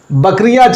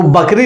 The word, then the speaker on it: बकरी: कुछ गांव के लोग जो पढ़े लिखे भी रहते हैं वो बकरी नहीं कहते, भाई बकरी कह दो, बकरी नहीं कह पाते, वो कहते हैं बोकरी।